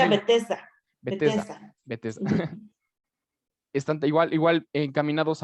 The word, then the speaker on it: Bethesda: principalmente asociados de igual Se forma a la pronuncia familia. Bethesda.